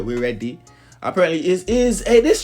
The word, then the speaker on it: Weredi: It's pronounced as it is spelled out right here, We Ready.